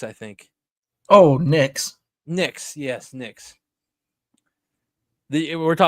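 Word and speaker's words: Nix: It rhymes with picks, I think. Oh, Knicks.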